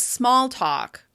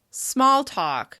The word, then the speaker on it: small talk: Which syllable of this compound noun receives the most stress? Small talk. Small talk. Small talk. As you can hear, the first syllable receives the most stress. The vowel sound is longer, louder, and higher in pitch with extra mouth movement.